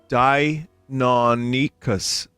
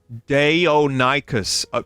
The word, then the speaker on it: Deinonychus: Day or night, cuz. That's how you say it.